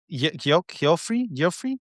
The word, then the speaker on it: Geoffrey: I went Jeffrey Oh, Jeffrey Canada, yeah, Jeffrey. There you go. Okay, it's that the reading was different.